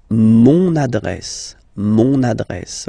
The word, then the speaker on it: mon adresse: Mon adresse, my address, mon adresse, okay? You can hear now this little link, so you get to pronounce this N.